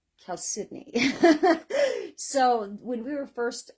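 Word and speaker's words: chalcedony: we we nicknamed Kel uh chalon Hill because Cal cidney is spelled chalon but it's pronounced Cal cidney so when we were first um doing a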